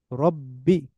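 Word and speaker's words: رَبِّ: লিল্লাহি তাহলে আলহামদু লিল্লাহি রব্বে রব্বি এটা এই যে সাইন এটাকে বলা হয় তাসদিদ তাসদিদ যে সাইন এটা দিয়ে এটা থাকলে ডাবল উচ্চারণ হয় এটা থাকলে ডাবল উচ্চারণ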